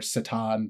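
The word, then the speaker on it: C'tan: they called themselves the Catan or Satan. There's a lot of different pronunciations, or they're also known as the Star Gods. Now, the Catan is how I will pronounce it.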